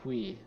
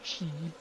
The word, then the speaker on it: Qi: Qui. That's what he said. Uh I have typically called him Mr. Key.